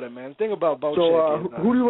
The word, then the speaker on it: Bocek: I actually thought this dude's name was pronounced Bocek. That's how I was pronouncing it, but I guess it's pronounced Bocek. So when I watched your video, I laughed.